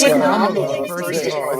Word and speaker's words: Kamala: They haven't said anything about her saying it wrong. Kamala. It's Kamala, first of all. It's not Kamala. It's Kamala.